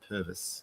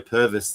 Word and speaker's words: Purves: Well, there's a whole YouTube thing, and they got Peter Purves, who is it Purvis? I think they pronounce it Purvis.